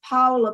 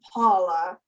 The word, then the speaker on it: Paola: so and by the way my name is Paula but call me Paula because I'm Italian I was born in Italy